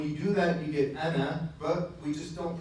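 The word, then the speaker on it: أنا: Ana. Now when you see this ana, okay, it has an alif there. We don't pronounce the alif, right?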